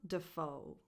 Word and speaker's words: Dafoe: The stress goes on the second syllable in the last name, foe. So the first syllable is d.